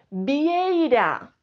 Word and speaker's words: vieira: palabra llana decimos vie El golpe de voz está en la primera sílaba no en la última